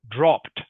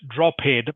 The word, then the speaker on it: dropped: of these e d words you is just pronounced like a t so words like diminished finished okay finished is another one dropped dropped which means to get lower not droad but dropped okay a lot of Ed words